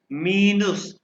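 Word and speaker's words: minus: गलाश हो गया और माइनस की स्पेलिंग इंग्लिश में माइनस है लेकिन प्रोनाउंस करेंगे मिनस मिनस मल्टीप्लाई को कहते हैं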